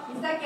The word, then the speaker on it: 水崎: 三崎と書いて三崎と読みます。